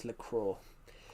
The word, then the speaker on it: Lecrae: His name was pronounced Lecraw. It was Lecrae, but pronounced as Lecraw.